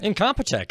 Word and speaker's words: Incompetech: Kevin Macleod is a man who is the owner-creator of, I might not be pronouncing this right, Incompetech? Incompetech, absolutely.